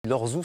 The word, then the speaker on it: Lorjou: du peintre Bernard lorzou on dit lorzou ça s'écrit Lorjou et vous allez voir